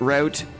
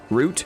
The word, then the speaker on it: route: So, I have a question for anyone who pronounces route as r out. Root. Route. Is rouge also pronounced rous? You say root. Some people say route.